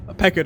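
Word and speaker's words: Pequod: And then suddenly she was captain the Peckwood again. Peckard again, which is I think is actually how you pronounce it.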